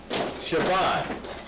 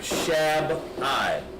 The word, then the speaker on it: Shabbai: Shabbai, not Shab-I or Shab-I. It's Shabbai. That's the correct way to pronounce it.